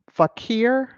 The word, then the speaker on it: Fakir: Yes, Duke Fakir, I believe is how you say his last name, it passed away.